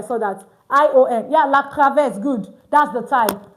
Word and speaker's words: cravate: Yeah, la cravette, good. That's the type. Cra, it's cra. Okay, it's not, no, it's cra, like this. La cravette.